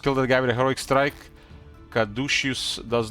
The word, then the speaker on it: caduceus: I used to pronounce it Caduceus, but it's Caduceus.